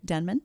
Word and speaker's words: Denman: What's my last name? Denman. There you go. You said it right this time.